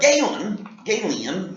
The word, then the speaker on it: Galen: But Galen is how you pronounce his name, was a Greek physician that